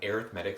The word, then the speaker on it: arithmetic: time that's what an arithmetic sequence is arithmetic not arithmetic arithmetic is a noun arithmetic is an adjective you pronounce it in that way it's an arithmetic sequence